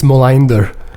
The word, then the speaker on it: Molander: How do you say it in the proper Scandinavian pronunciation? I think it's Molander.